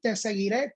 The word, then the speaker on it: Te seguiré: Lo puedes buscar, simplemente pones Jonathan, te seguiré con acento en la E final.